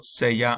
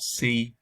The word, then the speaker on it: sea: This is cuando sea mayor. This is not si, or however else you want to pronounce it. It's sea, cuando sea mayor, when I'm older.